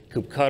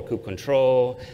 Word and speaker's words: kubectl: Oh, by the way, for kubectl, there's a lot of different pronunciations for that. Some people say kubectl or kubectl.